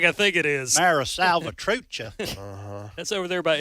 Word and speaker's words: Mara Salvatrucha: that regard uh by the way I I mispronounce the uh the name it's Mara salvatrucha I knew you did that but I didn't